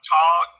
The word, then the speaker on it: tautog: And then something that I'd never even heard of, I had to Google it, called a tog, and it's actually spelled like tautog.